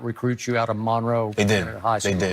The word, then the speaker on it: Monroe: North Central North Louisiana Monroe right that's how you say it Monroe cuz when I was there I thought it Monroe but they say Monro right Monro Monro so when